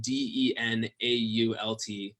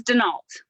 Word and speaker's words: Denault: last name it is Denault all right good because we're American we mispronounced that French yes it is French but we do pronounce it Denault all right excellent good